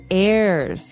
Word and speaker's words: heirs: pod and to his heirs this is our next word what is an air now if you notice the H is silent there so his heirs and